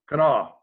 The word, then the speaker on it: Kanawha: And he can say definitively it's pronounced with 3 syllables, Kanawha.